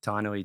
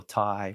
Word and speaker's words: Tainui: having, you know, a name like Tinoi too and going to school in Australia, bro. Could never say my name, you know, if it was always T or Thai, which I hate, it was always T and short or just absolutely botched at school.